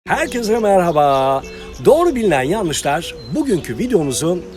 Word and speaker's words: Merhaba: kelime Selam anlamına gelmektedir yapılan yanlış ortadaki H harfinin genellikle yutularak söylenmesi ve Merhaba şeklinde telaffuz hikmettir doğrusu Merhaba olacaktır hemen bir başka kelime